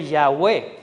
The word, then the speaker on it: Yahweh: Los expertos señalan que la pronunciación debe ser Yahweh o Yahvé.